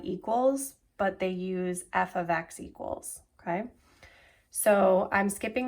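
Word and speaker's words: f(x): F parenthesis X but it's pronounced f of X it's not multiplication so they've got that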